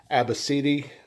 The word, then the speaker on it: ABCDE: you pronounce that, but it's Abacidi, something like that. And I'm sorry if I mispronounce it. It's actually pronounced like that, but someone at American